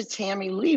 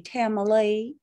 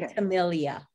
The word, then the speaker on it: Tamilee: So if you're from the South, you would say Tamilee. Oh, I'm sorry. I've been saying it wrong. Tamilee. If you're from California, say Tamilee. Just don't say Tamilia.